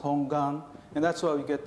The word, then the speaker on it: 本願: Primal vow and in Japanese means hongan it's pronounced hongan and that's why we get the hongan G